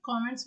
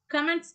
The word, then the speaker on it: comments: ஸோ என்னுடைய 10th ப்ராஜெக்ட்டுக்கு எனக்கு பலத்த காமெண்ட்ஸ் வந்தது, நான் ரிசீவ் பண்ணியிருக்கேன் அப்படிங்கிற மீனிங்கில் சொல்லலாம். அண்ட் தென் கமெண்ட்ஸ் அப்படி ப்ரொனவுன்ஸ் பண்ணக்கூடாது, காமெண்ட்ஸ். Fourth one, ooze.